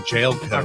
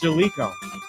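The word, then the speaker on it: Jaleco: It's Jalico. I've been saying Jailco.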